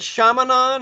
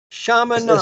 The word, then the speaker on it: Chaminade: Chaminade? Is that what you said? Yeah. Chaminade.